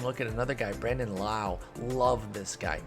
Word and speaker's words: Lowe: at another guy brandon lau loved this guy don't know why it's pronounced wow when his own teammate nate is pronounced low that's not confusing at